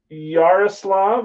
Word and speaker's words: Yaroslav: Yaroslav, I believe is how you say it.